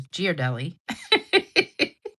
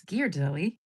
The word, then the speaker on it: Ghirardelli: I always thought it was Ghirardelli. But it's Ghirardelli. And I didn't realize that till I saw a commercial one time. And I was like, "Oh, I guess I've been saying it wrong all this time."